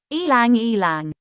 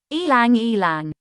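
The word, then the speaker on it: ylang-ylang: words in english how do you go about pronouncing this one elang elang once again ilang elang let's repeat ylang ylang pretty straightforward once you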